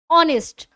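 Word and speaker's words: honest: भी आप बोल रहे हो वो क्या होगा ऑनेस्ट ऑनेस्ट कैसे लिखेंगे अगर हम लिखेंगे अपने साउंड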